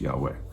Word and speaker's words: Yahweh: so we put the vowels in it gets pronounced yahweh sometimes you'll hear that as jehovah and that's